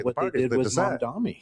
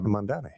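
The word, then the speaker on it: Mamdani: They decide, you know, the states are supposed to decide, but it's typically Mandami. Did I say his name right? Mandani.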